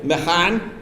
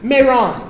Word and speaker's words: Mehran: Mehran? Mehran.